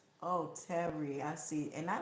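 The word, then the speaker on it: Tehry: just for your information my name is pronounced Terry oh that's how oh that's nice I like that Terry is spelled t e h r y oh that's nice thank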